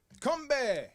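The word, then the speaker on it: 건배: Combe.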